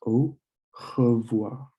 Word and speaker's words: au revoir: So it's O, and then you have revoir. With the O and the I, it's like a wa sound. So it's au revoir, which means goodbye.